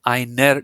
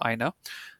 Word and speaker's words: einer: Here mit was für einer Datenquelle. Again, when you're talking, you don't have to pronounce the R part. You can just say mit was für einer Datenquelle.